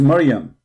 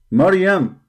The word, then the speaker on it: Miriam: It is Miriam. Miriam, exactly as the name of the sister of Moses and the sister of Aaron.